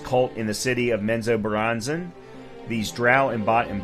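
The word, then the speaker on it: Menzoberranzan: raised by lost cult in the city of menzo bronzen these drow and bought and by the way I did pronounce that correctly uh these trial embody the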